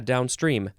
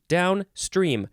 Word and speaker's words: downstream: and then uh yeah Downstream Downstream both are emphasized equally they are Partners in this